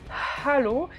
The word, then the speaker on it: Hallo: Donc déjà, Guten Tag, Hallo, avec bien le Hallo, bien le H aspiré.